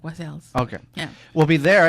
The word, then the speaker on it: West Allis: Public Library talking about, Holly says I says West Allis wrong. I don't know. I'm a Southern boy, so. You say it like you're supposed to say it. Like I say it real fast, like West Allis.